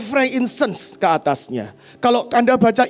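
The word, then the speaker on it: frankincense: yang dankan kan kemenyan bahasa Inggrisnya Frank insens ya Saya baru belajar bacanya saya dulu sering salah franktin film ya ternyata Frank insens ke atasnya Kalau anda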